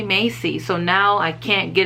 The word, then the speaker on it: Massey: you why um i kept saying massey brandon massey i never thought to say macy on their website they